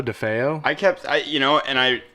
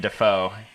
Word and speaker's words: DeFeo: I believe so, DeFeo. I think I misread it when I first read that name, and I just kept saying Defoe.